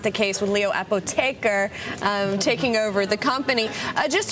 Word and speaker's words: Apotheker: It's actually Apotheker, but I'm sure a lot of people will be saying Apotheker from now on.